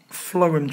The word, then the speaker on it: phloem: is a flum tube now flm even though I know it's spelled a little weird do I like to think of is fum food the same sound though it's spelled clearly with a P flm is for food